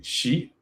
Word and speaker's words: Xi: Did I pronounce the name correctly? Is it Xi? Xi. Xi? Xi? Okay. No, Xi. Xi.